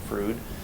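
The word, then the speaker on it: Froude: of the diary of Rh frud that's how that's pronounced frud he refers to the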